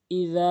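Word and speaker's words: إذا: এক নাম্বার ইজা, এখানে জালের জায়গায় জিম উচ্চারণ করে ফেলে। ইজা বলতে হবে।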